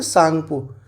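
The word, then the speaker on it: Tsangpo: एस से हो जाता है वो ये जो टी है इससे हो जाता है सांगपु। ठीक है? टी इसमें साइलेंट होता है लेकिन स्पेलिंग इसकी टी से ही शुरू होती है।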